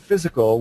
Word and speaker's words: physical: In the word physical, we are taught to say it like the letter I in lift versus how it would sound in high.